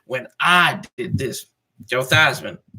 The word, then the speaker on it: Theismann: Joe Theismann. That's why they call him, Joe Theismann, not Theismann. They did it to rhyme with Heisman and hard I in there. So can't say Theismann without the letter I.